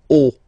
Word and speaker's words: haut: Okay, final T not pronounced, and then this H as previously, you don't pronounce it, so this is haut.